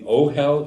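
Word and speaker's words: אֹהֶל: Ochel. Oh, hell. Ochel. We know that if the earthly Ochel, which is our bait, the Ohel is our bait.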